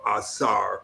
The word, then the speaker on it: Asar: just I was first calling myself or because that was the Greek pronunciation for Asar or Yasir.